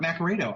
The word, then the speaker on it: Naccarato: Yeah, it's pronounced Naccarato. That's the Americanized pronunciation of it. It's Italian, so it's pronounced differently over in Europe. But yeah, my name's Naccarato.